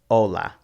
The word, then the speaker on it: hola: between the two higante aceh is silent like hola notice that you skip right over the aceh and go straight to the o ola all vowels are always